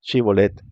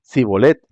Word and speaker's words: Shibolet: Si decía el hombre: No, no lo soy, ellos pedían que pronunciara la palabra Shibolet. Si era de Efraín, diría Sibolet, porque a la gente de Efraín le cuesta pronunciar bien esa palabra.